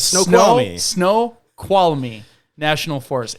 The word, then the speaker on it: Snoqualmie: It's Snoqualmie. Snoqualmie National Forest. It's spelled Snoqualmie.